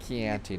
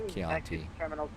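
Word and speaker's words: Chianti: Keanti, not Keianti. Charlie, he was mocking uh Clarice by pronouncing it that way.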